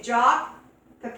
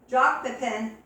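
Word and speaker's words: Jacques Pépin: And according to Jacques Pepin, I believe that's how you pronounce his name, Jacques Pepin, the French chef, that's the best way to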